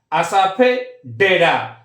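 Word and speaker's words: asafoetida: 29 হিং 29 কি দেখো হচ্ছে হিং আমি প্রোনাউন্সিয়েশন টা কিন্তু দেখো ভেঙে লিখেছি বাংলায় আসাফে ডেডা এর কিন্তু স্পেলিং এর সাথে কিন্তু তুমি এটা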